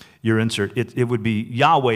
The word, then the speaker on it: Yahweh: insert it would be Yahweh and not Jehovah Jehovah is not really how that would have been pronounced actually to be honest we don't know exactly how to be pronounced I think Yahweh is is the closest to that which I say it's not Jehovah because they didn't have a letter J like that in in Hebrew but the reason we